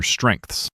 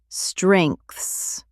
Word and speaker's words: strengths: Your strengths. Yes, strengths. This is hard to pronounce. Strengths. It is a tricky cluster of letters. Strengths. It ends with that th sound.